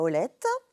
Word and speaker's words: Olette: Pas Oleta.